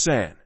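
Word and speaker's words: 三: A2 is pronounced ni and a three is pronounced San we don't know who invented or H the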